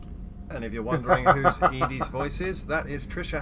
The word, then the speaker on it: EDI: And if you're wondering whose Edie's voice is, that is Trisha Helfer, All right. who was Cylon number 6 in Battlestar Galactica. Okay. Why are you named Edie? EDI is the phonetic pronunciation of EDI.